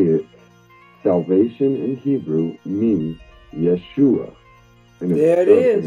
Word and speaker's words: Yeshua: Well, this is where it blew my mind, is it the transliteration and phonetically how we say it, salvation in Hebrew means Yeshua.